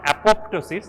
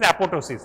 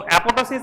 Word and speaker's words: apoptosis: is it is not apoptosis it is apotosis right second p is silent so apotosis is programmed cell death